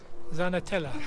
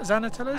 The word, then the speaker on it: Xanenetla: i know is that zana tell us because i know in spanish x's are pronounced and sort of zeds but it always throws me off yeah there we go